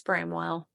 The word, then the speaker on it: Bramwell: And he said it's Bramwell.